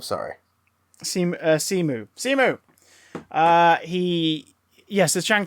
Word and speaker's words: Simu: there was a period where he uh the pronunciation is simu simu simu he doesn't say about his surname